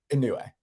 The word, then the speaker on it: Inoue: Inoue.